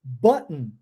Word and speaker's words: button: Nas duas palavras, button e cotton, você é obrigado a omitir esse som, porque essa é a forma certa de se pronunciar.